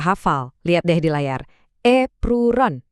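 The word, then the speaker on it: エプロン: Epron. Bacanya gampang kok. Epron. Kedengaran mirip epron kan?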